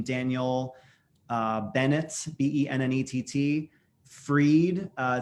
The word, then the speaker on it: Fried: do my my name daniel uh bennett b-e-n-n-e-t-t freed uh spelled like fried f-r-i-e-e at china actually day and friday that's fine everyone called me fried i don't care anymore it's fine but uh